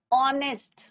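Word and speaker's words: honest: एच क्या है silent है, कॉन्सोनेंट है बट साइलेंट है. यहाँ पे किसका साउंड आ रहा है बच्चों वोवल साउंड आ रहा है.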